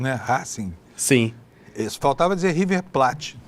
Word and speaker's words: Racing: E a pronúncia é uma pronúncia latina mesmo, né? Racing.